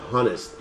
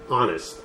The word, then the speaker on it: honest: the pronunciation of honest you write it with H but you don't pronounce the H you don't say honest you say honest okay tell me honestly